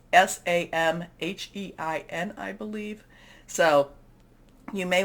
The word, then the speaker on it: Samhain: We are also in what's called Samhein. There's different pronunciations. I think I'm doing the Scottish pronunciation of this, but we can, there's different Celtic type of pronunciations. So Samhain, this is a time when the veil is very thin.